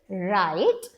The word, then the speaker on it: write: ओ हम no okay W R when W R will seat together W will remain silent only are will going to make a sound like again it's a magic E word र आई ट राइट यू can teach them